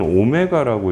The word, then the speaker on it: 오메가: 그래서 W라고 써주면서 읽을 때는 오메가라고 읽어주는 거야.